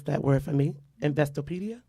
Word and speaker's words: Investopedia: She has been recognized in her industry by, pronounce that word for me, Investopedia? Investopedia.